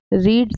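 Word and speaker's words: read: देखिए, रीड की जो स्पेलिंग तो सेम होती है। रीड की जो फॉर्म्स है वो है रीड, रेड, रीड।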